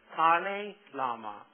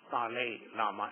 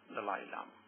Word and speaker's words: Dalai Lama: The proper pronunciation is Tale Lama, but very few people say Tale Lama. Everyone says Dalai Lama.